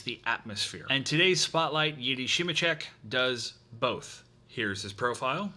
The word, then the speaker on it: Jiri Simecek: And today's spotlight, Yiddi Shimichek, does both.